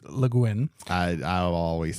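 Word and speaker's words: Le Guin: the preview from last week I got her name wrong it's not g it's leguin I I always said Leen or leg yeah everything everything I've seen is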